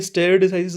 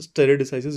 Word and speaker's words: stare decisis: ये स्टेयर डिसाइसिस नहीं होता, this is स्टेयर डिसाइसिस। यू can check the pronunciation on Google as well.